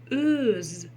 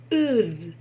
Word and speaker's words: өз: Слово өз. Как прочитать букву О с черточкой посередине? Но на самом деле здесь тоже нет никакой Америки, ничего сложного открывать не надо. Читается она так. Берем слово пес.